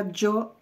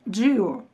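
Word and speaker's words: Giò: И он создает флакон для Джо Армани. Кстати, часто очень мы называли этот парфюм Джио. Хотя правильно произносить Джо, потому что Джорджо Армани, а Джо сокращенно от его имени.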